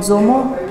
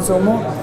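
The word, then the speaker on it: dzo: So if you want to experiment on Zomo, there are lots in Tibet.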